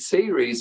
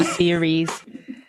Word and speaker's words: Ceres: The idea with series is not, to bring up the traumas from the timeline.